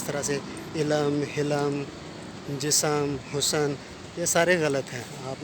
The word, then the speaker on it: حسن: جسم بولیں گے، جسم۔ اسی کا ہم آواز لفظ ہے حسن، ٹھیک ہے؟